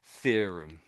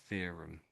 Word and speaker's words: theorem: Um, so to complicate things a little bit, um, trying to think, there's there's two types of th sound.